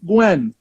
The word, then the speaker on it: Nguyen: I'm like, she actually pronounced that correctly. I was like, look, UTM. I don't know who this white woman is, but this white woman is on that next level. No one can pronounce Nguyen. Everyone messes it up.